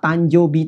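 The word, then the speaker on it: 誕生日: ada kata punk joby nah disini show baca-baca show itu berubah menjadi Jo sehingga harap diingat ya kadang-kadang akan ada kondisi dimana ow mienya yang show Ini berubah menjadi sub biasanya bila bersebelahan dengan eh bunyi Anggun seperti itu ya misalnya pada kata tanjoubi tadi itu kan ada anunya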